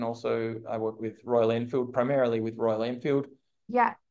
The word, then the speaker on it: Enfield: wearing the shirt, Royal, is it Enfield or Onfield? I actually don't know how to say it. How dare you? Enfield.